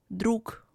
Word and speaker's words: друг: For example, G is pronounced as K in following words: друг, снег. Ж is pronounced as Sh, муж, еж.